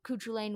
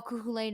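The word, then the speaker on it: Cú Chulainn: realizes that that while couture lane was somebody that it's it's lane by the way i've been pronouncing it wrong um but uh while kukulen has been like a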